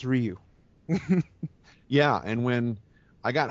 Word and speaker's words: Ryu: you put out um it's pronounced Ryu instead of rayu Ru doen haduken and